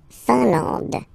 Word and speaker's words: Finlande: I-N here, nasal, un, A-N, nasal, en, and then D, final E, not pronounced. La Finlande.